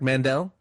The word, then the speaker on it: Mandell: Mandel. Yeah, just like Howie, but I'm not as funny.